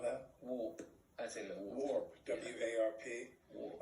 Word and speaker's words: Warp: Yeah, say it like we say it here in the United States. You know, war.